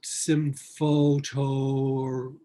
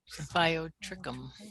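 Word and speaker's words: Symphyotrichum: Now it's, I can't even pronounce it, Symphotoricum. Symphyiotrichum. Symphyiotrichum.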